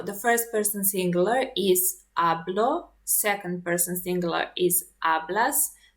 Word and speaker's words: hablo: Don't forget that in Spanish we don't pronounce h, so this is hablo, not hablo.